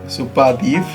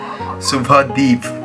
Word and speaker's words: सुभादीप: तो जो Leeds owner लिखा हुआ है सुपादीप, क्योंकि उन लोगों को बोलना नहीं आता है सुभादीप।